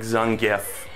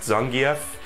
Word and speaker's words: Zangief: the grappler guys like zangeff which i think his name is actually supposed to be pronounced zangief but i pronounce it as do many humans uh huh try to